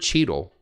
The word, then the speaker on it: Cheadle: yes because the word Cheadle itself it's fun to say Cheeto doesn't it fun totally it rhymes with needle which I have a